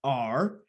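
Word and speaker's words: ARRR: ticker symbol is a triple r which is pronounced r but it's a completely decentralized project it's all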